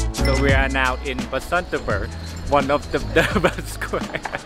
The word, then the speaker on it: Basantapur: one is amazing so we are now in basantaver one of the the square I said it